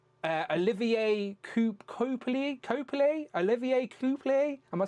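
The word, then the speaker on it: Coipel: It's uh Olivier Coup Cop Olivier Coupé. Am I saying that right? Copier.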